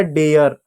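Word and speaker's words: dare: जैसे देखो डी ए आर ई, ए है आर है ई है, तो ए का उच्चारण ए की मात्रा प्लस य, डी का ड लिख दो, ए की मात्रा लगा दो, य लिख दो, आर का र लिख दो, ई साइलेंट हो जाएगा डेयर।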